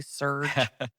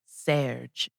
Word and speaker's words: Serge: He even said in this interview that when Americans say his name, he sounds electrical because they say surge. Yeah. That it's like Serge, it's not Serge.